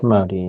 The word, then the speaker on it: MODY: Is that how you pronounce it? M O D Y. Modi.